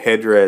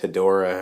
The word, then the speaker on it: Hedorah: Now you can pronounce it Hedorah as I do. Others more commonly pronounce it as Hedorah or Hedorah, but I've always referred to him as Hedorah.